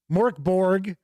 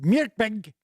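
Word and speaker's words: Mörk Borg: Omenal says definitely better than Morkborg, or as I was told, it's pronounced Mirkbeg, in their opinion, for reading and visuals.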